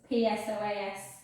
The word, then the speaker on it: psoas: it google it guys it's got a silent p so it's psoas and then just hold